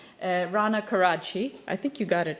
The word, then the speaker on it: Rana Karadsheh: So I'll give you the proper pronunciation of my very complicated last name. Rana Karadsheh.